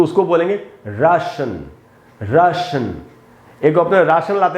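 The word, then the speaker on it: Russian: तो ये दोस्तों रश या राशन ऐसे बोलेंगे, ना कि रशिया, रशियन, इस प्रकार से नहीं बोलेंगे।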